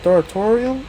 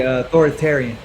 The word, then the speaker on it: authoritarian: Is it authoritarium or authoritarian? It would be authoritarian.